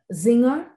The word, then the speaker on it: Singer: with singing in belarus we like to pronounce this brand of sewing machines with a german accent because um zingers uh